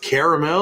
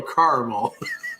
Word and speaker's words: caramel: On a different note, do you pronounce it caramel or caramel? Caramel. Don't be one of those guys. Caramel. It's caramel.